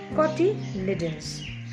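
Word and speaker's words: cotyledons: leaves we call them koti lidons it is pronounced as coty liddens the function of this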